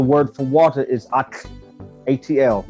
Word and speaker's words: Atl: Okay, in Anahuac, the word for water is Atl, A-T-L. It's spelled in English with A-T-L, but the sound is Atl.